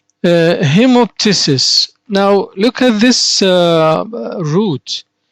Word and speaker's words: hemoptysis: gets rid of that out of his mouth pronunciation hemoptysis hemoptysis the next uh suffix we have ridge or